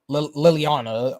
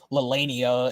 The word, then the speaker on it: Liliana: Princess Liliana. Yeah. So that's how you pronounce her name, because I kept calling her Lilania in my Jack Smith Let's Play, but her actual pronunciation is Princess Liliana.